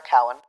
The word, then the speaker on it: Cowan: Crossing Wires is written by Sarah Cowan, whose surname is not pronounced Cohen, and Ziggy Schutz, with sound design and music by Jack Strudwick.